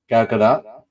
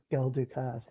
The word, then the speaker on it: Gal Gadot: Gal Gadot. There we go. I was calling her Gal Dukat.